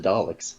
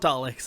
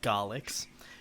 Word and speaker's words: Daleks: So you know what Daleks are now. You know that it's pronounced with a D and they're not Garlics.